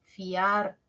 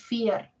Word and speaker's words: fiar: también escucho dos ya pero es un diptongo Por qué es un diptongo porque de las dos vocales la abierta la a suena más fiar no es fier Sí entonces ojito ojito